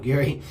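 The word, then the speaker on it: Jauregui: bisping is really high on howard geary her name is spelled like jaguar erie but that's not how you say it um howard gary she has a really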